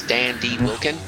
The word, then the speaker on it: Dan Deagh Wealcan: of the band uh correct me with a pronunciation cuz I'm butchering this Dan D wilin it's correct okay great uh it